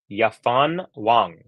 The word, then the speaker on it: Yafan Wang: versus yfan Wong it's it's spelled w but I listened on the on the WT website it's yafan Wang uh there you go